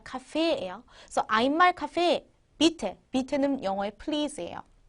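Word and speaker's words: Kaffee: 거는 커피라는 뜻의 독일어입니다 주의하셔야 될 거요에 두 개 나와도 에라고 읽는 거 아시죠 카피가 아니라 카페예요 아말 카페 밑에 밑에는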